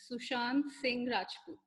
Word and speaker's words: Sushant Singh Rajput: it's Sushant Singh Rajput. Well, it's beautiful, even more beautiful than it looks on paper. Sushan, you pronounce the T at the end now.